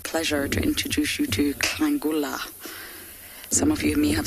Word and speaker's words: Nhlangula: Beach girl, you are asking how old is Klangula. I'm going to spell it for you. Nhlangula. But it's just a bit like Klalamba.